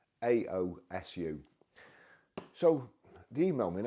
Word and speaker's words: AOSU: people always send me things that I can't pronounce I think it's aosu auu a anyway it's aosu so the email me and asked me if